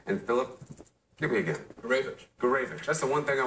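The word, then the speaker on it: Gourevitch: Gurevich.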